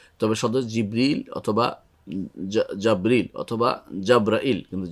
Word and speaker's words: জিবরিল: তবে জিবরিল বা জাব্রাইল আর জিব্রাইল এইভাবে বর্ণনাটা খুব শুদ্ধ নয়, এটা আমাদের দেশে খুব প্রচলিত জিব্রাইল। তবে সদর জিবরিল অথবা জাবরিল অথবা জাব্রাইল, কিন্তু জিব্রাইলটা বেশি শুদ্ধ নয়, তবে সেটা আমাদের দেশে প্রচলিত আছে।